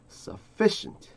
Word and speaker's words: sufficient: Sufficient.